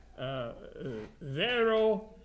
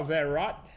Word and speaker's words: Vero: Vero, la raison pour ça, en français, c'est un consonant au bout d'un mot qu'il ne prononce pas. C'est pas verot, c'est vero.